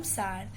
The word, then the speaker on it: Tsar: तो ये TSAR है पर इसको प्रोनाउंस करते हैं हम सार.